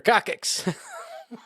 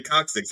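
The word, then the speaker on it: coccyx: Grandma broke her Broke her cockix. So, I'm saying it wrong. Is this the way? No, it's Well, you're okay. Cuz it was a premed course and they actually taught us to say coxics.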